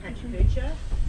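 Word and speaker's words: PechaKucha: This was made for a slideshow called Pachacucha, and the format is, that's how you say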